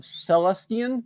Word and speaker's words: Celestian: He is a cleric of Celestian, I believe is how you pronounce it.